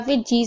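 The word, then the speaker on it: fridge: इस तरीके से भी याद कर सकते हैं कि अगर डी के बाद जी आएगा तो डी साइलेंट रहेगा, या फिर जी से पहले अगर डी आएगा तो डी साइलेंट रहेगा।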